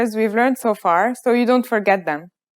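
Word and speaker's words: ف: to learn today is fab fa is pronounced just like the english f notice how this letter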